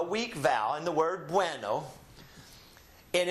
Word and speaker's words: bueno: So we keep these together in one syllable and they form one sound. You can distinctly hear the U and you can distinctly hear the E, but they are blended together as a diphthong as one sound.